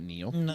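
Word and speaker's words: Niall: name wrong Neil NE you pronounce it Neil yes NE okay calm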